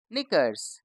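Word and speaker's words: knickers: के एन आई सी के ई आर एस निकर्स के एन आई एफ ई नाइफ के एन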